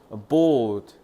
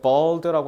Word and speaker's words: bold: 기회 bold 너네 그 볼드체라고 하잖아. 진한 거. 이거 대담한 담대한이란 뜻이야. 용기 있는 발음 잘해야 돼. Bed라고 하면 그거 대머리란 뜻.